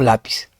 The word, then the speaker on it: lápiz: ¿Es lápiz o lápiz? No, por eso no es lápiz, es lápiz. Lleva tilde porque termina en Z.